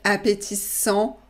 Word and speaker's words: appétissant: Donc, le gâteau masculin singulier, donc appétissant, on ne prononce pas le T.